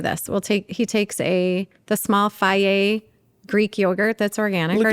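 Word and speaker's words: Fage: He takes the small Faye Greek yogurt that's organic or non-GMO. Instead of saying Feiji. Faye.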